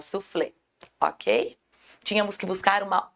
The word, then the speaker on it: soufflé: Aqui a gente tem essa separação, o flé é a sílaba mais forte, automaticamente a última sílaba, sabemos que isso é uma oxítona. Então, nós tínhamos que buscar a oxítona, francês. O cês é a sílaba aí mais forte, igual o soufflé, ok?